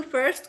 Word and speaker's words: first: First को बोलो British में? First. Good. See, you were right. It is first, because they don't roll their R's. They don't pronounce the R, and that's why it's first.